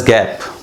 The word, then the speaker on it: GAAP: The acronym is pronounced age गैप।